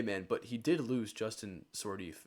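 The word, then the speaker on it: Sourdif: Hey man, but he did lose Justin Sordif, if that's even how you say his name. So that's a Just huge. sort of, yeah, Sort of is how you say his name.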